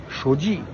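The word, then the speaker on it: 手机: Shouji.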